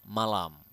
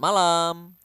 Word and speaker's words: malam: we have Selamat malam you need to pronounce The M here clearly selamat malam selamat malam selamat malam good night